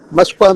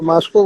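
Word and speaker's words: Moscow: Lenin ने 1917 में मस्को में किया था। हम लोग उसको मास्को बोलते हैं, रूसी भाषा में उसका उच्चारण मस्को है।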